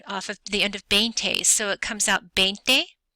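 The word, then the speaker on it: veinte: 20 is pronounced B it starts with a V but it's pronounced with a B sound so bente and just like with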